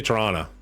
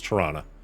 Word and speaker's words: Toronto: try that oh they still say torana like it that's there's a movie on Netflix right now called The Man from Toronto and everybody I know made fun of it because that's how they pronounce it like Toronto we're going to go to Toronto and it's like nobody